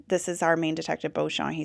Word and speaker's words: Beauchamp: Beauchamp, which he pronounced Beauchamp, but Rupert, who is our party boy / kind of a suspect in this murder, his last name is also Beauchamp, but he pronounces it Beecham.